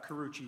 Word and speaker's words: Karuchi: Am I uh am I pronouncing your last name correctly? Uh Karuchi. Yes.